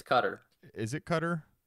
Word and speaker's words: Qatar: I'm sure, because I've also heard it pronounced Qatar. It's Qatar.